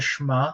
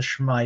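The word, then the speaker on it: שמע: so the very first word there is the shema and we refer to this as the shema or the shma israel after that first word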